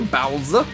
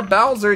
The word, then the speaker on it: Bowser: What you gonna do, Bowser? Why do I pronounce Bowser with a Z instead of an S?